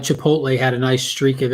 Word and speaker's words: Chipotle: however you say it Chipotle Chipotle is how it's pronounced but we say Chipotle chipot just to mess with people like I don't